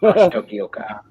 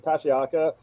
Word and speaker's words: Tokioka: Took me a while to learn. I think it was actually someone else who told me that's how you pronounce it. I was like, oh, all right. I think I'm saying Tashiaka, but someone got it to me correctly, and I was like, all right, good.